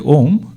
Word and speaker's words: Om: this m sound now om is formed of three syllables a u and Ma aara ukara Makara a and u together becomes o so when we chant om we have to chant om only we don't need to say a a and o SII happens it is om now each syllable has